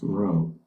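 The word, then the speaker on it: rho: a population correlation coefficient row that this is another Greek letter okay you it's it's spell RH write it r h o okay and it's pronounced row um using a table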